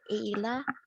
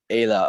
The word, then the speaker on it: Ayla: Mine's pronounced Ayla. Ayla, okay, sorry.